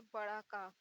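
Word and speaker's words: ق: इसे थोड़ा हलक से निकालते हैं, का।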